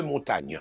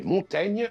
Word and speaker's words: Montaigne: Michel de Montaigne, que ses contemporains avaient pris l'habitude d'appeler Montaigne, a conservé jusqu'à aujourd'hui un i en trop et une prononciation fausse de son véritable nom.